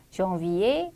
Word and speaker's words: janvier: 단어 끝에 위치하는 R는 발음이 되기도 하고 안 되기도 합니다. 그래서 발음이 되는 경우를 체크해 주면 되겠네요. 1번 dîner, 2번 hiver, 자 발음이 되죠. 답은 나왔고 3번 cahier, 4번 janvier, 5번 étranger, 발음되지 않습니다.